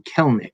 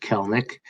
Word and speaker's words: Kelenic: And just to note, yeah, you do pronounce his name Kelenic, not Kelenic, like it looks like. The way it's spelled. It's just Kelenic.